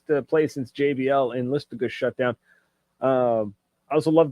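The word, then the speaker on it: Listuguj: Haven't really got the chance to play since JBL in Listagush shut down. I also love the fact that I knew how to pronounce Listagush.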